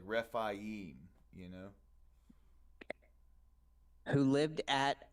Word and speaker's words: Rephaim: It seems like whenever it's AI, it's I-E. That's the way that they pronounce it. So like Rephaim, you know.